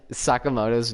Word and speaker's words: Sakamoto: don't trust the pronunciations it and pronounces Sakamoto's name as a comet oh it's not calm it so it is no it's Sakamoto awesome was the like